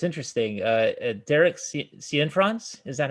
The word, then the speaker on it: Cianfrance: Derek Cianfrance, is that how you pronounce it?